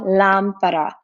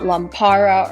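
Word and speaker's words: lámpara: word as you notice the accent mark is on the a the first a in this word so it's pronounced la lampara not lampara or lampara it's la lampara and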